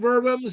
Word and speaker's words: verbum: So you could have action verbums and passive verbums. Now, the thing is that if you ask some Latin teachers, they'll call it verbum because they pronounce all the V's as W's.